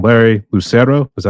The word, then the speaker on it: Lucero: We got our boy, Larry, and I'm sorry if I pronounced your last name wrong. Larry Lucero, is that how you pronounce it?